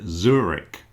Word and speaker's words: Zurich: There's another city called Zurich. We pronounce it Zurich.